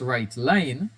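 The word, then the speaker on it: WriteLn: in comment WR and WR Ln which is pronounced right line are used for outputs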